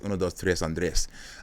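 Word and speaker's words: 1, 2, 3 Andrés: 123 Andres, um or I would say, I mean, if you're going to pronounce it correctly, it's Uno Tres Andre, uh which sounds much better than 123 Andres.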